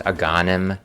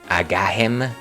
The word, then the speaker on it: Agahnim: I I pretty sure I used to call him Agahim, which again I'm I'm just a poor Hispanic. I was a poor Hispanic kid at the time, so I I kind of just pronounce my Hes as J's.